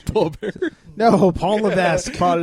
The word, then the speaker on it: Levesque: No, Paul Levesque. Paul Levesque. Oh, okay, no. Or Levesque? Levesque? I think the S is silent.